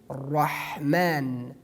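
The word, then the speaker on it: رحمن: dhamma at the top, we pronounce the ra letter in tafkhim. Like the example that you see in the screen, Rahman, Rahman, Rahman. We pronounce it in tafkhim. We pronounce it strongly.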